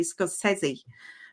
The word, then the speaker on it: Scorsese: It was her and Martin Scorsese, or I think the correct way to pronounce his name is actually Scorsese.